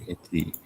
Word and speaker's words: Keji: Keji. Itu bacanya Keji ya Pak ya? Iya, Keji. Keji.